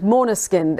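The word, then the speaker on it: Måneskin: Name of the band, Maneskin. It's Maneskin, and I've been practicing that because for an Englishman it's very hard to say. For Italian people too. The name Maneskin sounds very Nordic.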